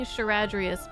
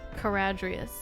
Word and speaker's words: Caradrius: I keep saying Charadrius, but Dell said Caradrius. Or Caradrius, something. Hard C.